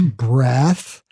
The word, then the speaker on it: breath: So breath is a noun, pronounce breath. And when you put an E on the end of it, that will make it into a verb to breathe.